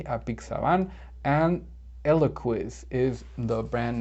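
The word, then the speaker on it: apixabán: 53 is a pixaban in spanish it's the same just that it has an accent on the a a pixaban and eloquis is the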